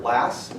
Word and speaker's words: Lass: the kind that you would shoot hyphen l-a-s-s how do you pronounce the very last part last yep yep and i just go by